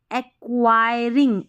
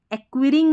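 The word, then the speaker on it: acquiring: उसको इंप्रूव करती है एक्वायरिंग एक एक्वियरिंग नहीं पढ़ना एक्वायरिंग यानी कि [गला साफ़ करने की आवाज़] हासिल करना एक्वायर करना ठीक ठीक है?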